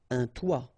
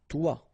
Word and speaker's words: toit: Okay, and then both of them are pronounced like toi. Un toit, toi.